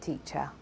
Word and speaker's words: teacher: I love my Britcent teacher. Lawyer. You should call your lawyer. Summer. Summer is my favourite season. So in teacher, lawyer and summer, we had the schwa on the second syllable.